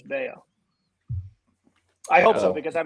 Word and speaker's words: Bello: brian bellow yeah well i think it's pronounced bail though i think they made it oh is it a weird variation yeah i think they made a point to like put out the pronunciation as bao i hope so because